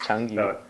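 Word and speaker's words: 成语: Zhengyu. It's close. Changyu. Changyu. Yeah.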